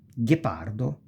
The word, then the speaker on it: ghepardo: So since there is the H, the G goes G, not J, G, because we have the H. So ge, gi, because of the H.